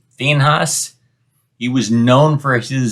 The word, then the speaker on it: Phinehas: We pronounce it Phineas. I think the more proper pronunciation is Phinehas.